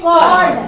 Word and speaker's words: chord: चलिए, कॉर्ड ऑफ a circle, देखिए बहुत बच्चे इसको चॉर्ट पढ़ेंगे ना, चॉर्ट, बट इट्स ये गलत प्रोनाउंसिएशन है, इसको पढ़ेंगे कॉर्ड, कॉर्ड ऑफ सर्कल।